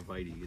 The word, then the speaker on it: vitae: cool it's big it's lignum and then you got Vite or or Vy is how we pronounce it I mean but VY